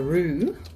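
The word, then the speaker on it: roux: So, while other people might make a rue, which is spelled R O U X, uh this is a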